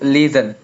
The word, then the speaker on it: listen: T is silent between S and as in to listen.